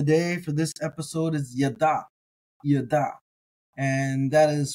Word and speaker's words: ידע: So the word of the day for this episode is yada, yada, and that is spelled yod dalet ayin, yada, and this means to know.